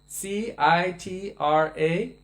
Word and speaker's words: Citraketu: Chitra Ketu. Citraketu. That would be the Sanskrit pronunciation.